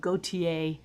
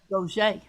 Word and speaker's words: Gauthier: some places they'd go with gautier but down in thibodeau where i was pretty much raised at gaucher so i went with that not knowing it would